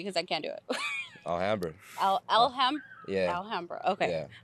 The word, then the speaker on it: Alhambra: So pronounce the name of the town for me because I can't do it. Alhambra.